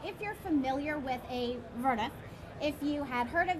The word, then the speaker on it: Woonerf: Well, it comes from the Dutch, and it's, if you think of it as V-U-N-E-F, Woonerf. Woonerf.